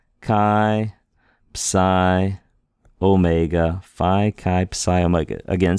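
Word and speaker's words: χ: like words like phone Kai is pronounced like a CH in Christmas like a little bit of a guttural it's like clear your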